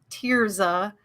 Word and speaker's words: Tirza: It's Tirza, but it's spelled so awkwardly. Anyway, Tirza, like crying, I always tell people.